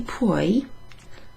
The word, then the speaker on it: puoi: Puoi rhymes with vuoi, so it's got this U before the O.